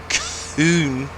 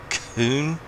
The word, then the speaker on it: Kuhn: Kuhn. Gotta make sure you pronounce the H. That's part of their branding. They want to make sure the H is pronounced. Kuhn.